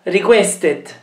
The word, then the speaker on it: requested: Questa requested. Quindi il verbo finisce con una T e quindi la vocale va pronunciata. Requested.